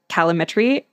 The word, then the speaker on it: calorimetry: So it's either direct or indirect calorimetry.